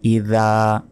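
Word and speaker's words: إِذَا: এখানে আমরা প্রথম আয়াতে অনেকে ভুল করি, বলি যে ইজা জা নাসরুল্লাহি ওয়াল ফাত। এটা সম্পূর্ণ ভুল। এখানে বলতে হবে ইদা, জালে অবশ্যই জিহ্বা বের করে উচ্চারণ করতে হবে জাল অক্ষরটি, এবং এখানে 1 সেকেন্ড টান হবে।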